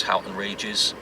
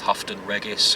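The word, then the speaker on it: Houghton Regis: year or something and she didn't even know how to pronounce Halton Regis she was coming out with hufton Regis hooton Regis and or Christ so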